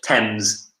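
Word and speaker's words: Thames: river the river yeah be careful of the pronunciation mm-hmm yeah so River tens tens tens very strange it's a spell like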